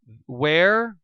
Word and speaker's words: where: between where and were where rhymes with ER were rhymes with fur and uh there it's